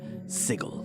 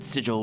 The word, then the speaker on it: sigil: be pedantic but it's pronounced sigil with a hard G Oh sigil yes yes yeah that's definitely pedantic importance because the word sigil with the soft G